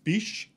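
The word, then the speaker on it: Bisch: like i said it's directed by andy tennant and written by kevin bish is i think how you say his name that's how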